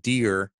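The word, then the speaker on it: Dheere: his name is Tom dear DHE are e and the age of silent the H is silent as he likes his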